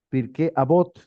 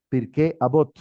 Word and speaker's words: Pirkei Avot: no la he revisado, pero se llama Pirkei, Pirkei Avot, Pirkei Avot. Pirkei Avot se escribe Pirque, Avot, A-B larga O-T, H.